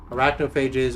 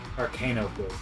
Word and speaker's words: Arcanaphage: Arachnophages are comically we're not really farther, but Shit, it's not like that. How do you spell it? ARCANAPHAGE. It's almost like Arcanophage.